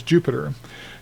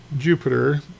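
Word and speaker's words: Jupyter: the book he uses Jupiter. He uh uses what is called a Jupiter notebook. Notice that it's spelled kind of funny. Jupy t.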